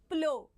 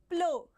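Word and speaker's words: plough: is again it's not Pluff okay so people do mispronounce it as Pluff it's not Pluff it is PL okay how to pronounce it it's nothing but PL okay so what is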